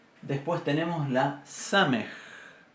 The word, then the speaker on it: samej: Después tenemos la samej. Samej, que se pronuncia igual que nuestra S.